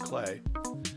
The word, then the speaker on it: Klee: gonna work on the clay sequencer which it's spelled cleave but it's pronounced clay which makes really bizarre